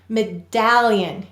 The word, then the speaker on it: medallion: followed by one consonant and this syllable is stressed medallion you can feel your mouth drop open medallion this is stressed so then we're going